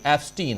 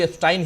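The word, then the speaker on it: Epstein: है कि जेफरी एफस्टीन हालांकि मिस्टर एफस्टाइन कह रहे थे वो ओरिजिनली नाम उच्चारण भी एस्टाइन ही करना चाहिए लेकिनकि अपने यहां एस्टीन एफस्टीन कहा जा रहा है तो मैं भी वही कह रहा हूं तो जेफरी एफस्टीन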